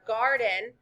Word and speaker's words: garden: The accent in garden is in the beginning of the word.